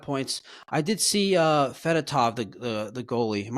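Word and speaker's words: Fedotov: two5 one five points I did see uh fatov the the the goalie am I pronouncing that correctly yes I did see he's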